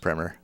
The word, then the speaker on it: primer: in fiddling the fiddle primer which also has a 60-minute cassette tape is available in order to play the violin we must accomplish six objectives I I've heard it pronounced premer that take your violin